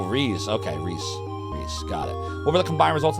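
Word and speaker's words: Rhys: protagonists um melpo says you think rise is pronounced like ree oh Rees okay Reese Reese got it what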